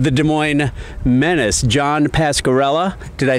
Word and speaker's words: Pascarella: new coach of the Des Moines Menace, John Pascarella.